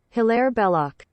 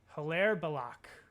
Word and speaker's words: Hilaire Belloc: Pronunciation. Hilaire Belloc. Hilaire Belloc. Hilaire Belloc.